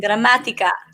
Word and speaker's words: Gramatica: you have for martin gramatica i just like saying your name i know right you pronounce it perfectly that's a great spanish pronunciation puerto rican dominican oh